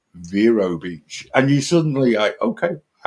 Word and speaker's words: Vero Beach: this quite hilarious because most British people when you go for the first time it's always Vero Beach I'm going to Vero Beach and then when you turn up and you realize I'm mispronouncing this I better change my pronunciation because I feel very British and it very quickly becomes Vero Beach and you suddenly I